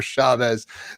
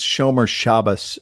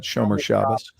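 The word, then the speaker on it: shomer shabbos: eric said show me chavez that's from the big lebowski i don't roll i don't roll on walter you're not even jewish man it's showmer shabbos is the way to pronounce that shomer shabbas these things i see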